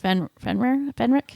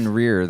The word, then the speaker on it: Fenrir: the battle, and Bill is horribly wounded by Fenric. Is that how you said they pronounced it? I think so. The werewolf, I think it's the death- Fenrir, though, isn't Fenrir.